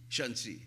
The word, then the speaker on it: Shanxi: Shangxi, like Shannxi. Is that right? Shanxi.